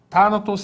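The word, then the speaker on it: θάνατος: Veja, o acento em Thanatos vai surgir exatamente aqui, ó. Na antepenúltima sílaba, né? Temos aqui tá, na, tos. Então, onde está o acento? Está na antepenúltima sílaba. É uma proparoxítona, né?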